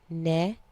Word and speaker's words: mnemonics: That key is called mnemonics, pronounced neumonics. The M is silent.